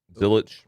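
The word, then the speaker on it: Zilisch: And then uh Connor Zil Zilich Zilich.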